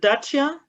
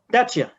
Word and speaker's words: Dacia: How is the correct pronunciation of Dacia? Is it Dacia? Dacia. Dacia is right?